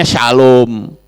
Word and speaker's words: shalom: singkatan itu kan singkatan s h l w m itu bacanya Shalom ya kemudian yang atas itu